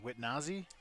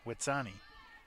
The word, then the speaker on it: Witsani: How do I pronounce it again? Witnazi? No, Witsani.